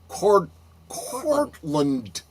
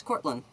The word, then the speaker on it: Cortlandt: The original building was constructed in 1671 by New York Mayor Stephanus Van Cortlandt. You don't pronounce a T at the end, it's Cortland.